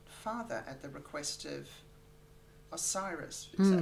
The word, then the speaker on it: Osiris: his once beloved father at the request of Osiris. Is that how you say it? The Egyptian god Osiris, yeah.